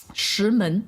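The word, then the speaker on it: 石门: Shimen. Shimen. Yeah, and they're both the like, you know, the tone that like climbs upward? Yeah. They're both that tone. Shimen.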